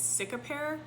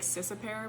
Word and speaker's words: Cicapair: It's Cicapair. I thought it was like Cicapair, but it's not.